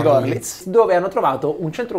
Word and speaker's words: Görlitz: Sono andati in Germania, nella piccola cittadina di, credo si dica, Görlitz. Gorlitz, scrive Minsk, si legge Gorlitz, dove hanno trovato un centro commerciale costruito in stile Art Nouveau.